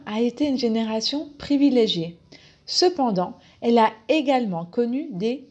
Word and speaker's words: cependant: beaucoup d'entreprises numéro 7 cependant est un connecteur d'opposition la prononciation se pend dans ce pan dans le pain et le dans a le même son nazal pan dans cependant est